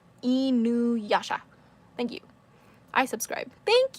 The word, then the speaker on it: Inuyasha: It's not Inuyasha. No. Inuyasha.